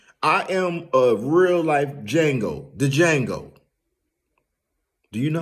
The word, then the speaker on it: Django: I am a real life Django. The Django. Do you know how to spell that? Yeah. D-J-A-N-G-O. The D is silent.